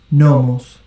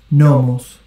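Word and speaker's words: νόμος: And if you don't know Greek, it will actually tell you how to pronounce the word. Oida. Oida. Nomos. Nomos.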